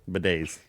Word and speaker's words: bidet: Bidets. Got it. Bidet. It's in my notes. Hate. How do you wait? You actually pronounced that correctly.